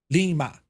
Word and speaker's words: Lima: where it says Lima but how do you say it it's Lee Lima you get the idea